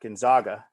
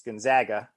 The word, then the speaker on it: Gonzaga: checks in with gonzaga with the proper pronunciation not gonzaga it's gonzaga i believe um and prestige